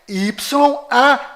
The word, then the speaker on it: YAUH: Ou seja, o código secreto deste cofre é YAUH.